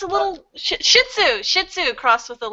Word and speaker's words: shih tzu: It's a shiatsu. No. I'm just pronouncing the dog's name wrong. Don't know the dogs. So. Yeah, it's a little shih tzu.